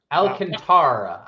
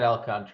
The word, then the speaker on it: Alcantara: Alcantara, I said I said I said Alcantra.